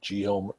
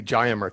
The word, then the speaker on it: Gainsburg: Tell us about this Geomer. I think I'm saying it right. Geomer technology. And you are. And yeah, well, technically we say Gainsburg technology, Gainsburg.